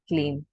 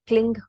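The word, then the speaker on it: क्लीं: अभी ये जितने भी मैं क्लीम कह रही हूँ, जितने भी मैं क्लीम कह रही हूँ, सारे KLEEM ही है, क्लिंग कोई भी नहीं है।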